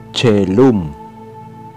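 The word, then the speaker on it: caelum: Kapag ang kusunod dito ay E, Ae, Oe, I, Y, ito ay binibigkas tulad ng CH sa salitang church.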